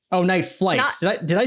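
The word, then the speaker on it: Nightflyte: out their band it the band name is spelled n-i-t-e-f-l-y-t-e night flight night flight night life they're saying el they're saying l-y-f-e before we were before we were making that hashtags you know no it's night flight oh night flight did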